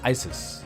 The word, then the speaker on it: Issus: The next great confrontation between the two sides took place in 333 BC near the town of Issus, also sometimes pronounced Isis, today in southwestern Turkey near the city of Iskenderun.